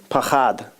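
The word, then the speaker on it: פחד: 3 25 is um pahad it's p-a-c-h-a-d but it's pronounced a little bit pahad because I listen to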